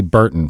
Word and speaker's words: Berton: we have Burton from Engine Building 101. Is it Berton? Is that how you say it? Yep, that's it.